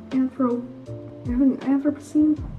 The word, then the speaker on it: Anthropocene: done either the anthropocene anthro ever seen yeah that's how you pronounce it it's up on the